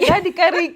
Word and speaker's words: Radikariki: Did I say it right? Radikariki. Radikariki, yes.